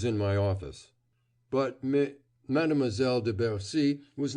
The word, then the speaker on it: de Bercy: by their pronunciation of de Bercy. Winter sounded 3 distinct syllables, Furneaux practically 2, with a slurred R, that Winter could not have uttered to save his life.